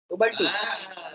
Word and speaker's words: Ubuntu: Sir spelling क्या होगा? UBUNTU उबंटू।